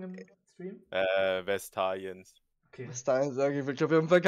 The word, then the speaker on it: Vastayans: Haben wir den da richtig ausgesprochen im Stream? Vestaliens.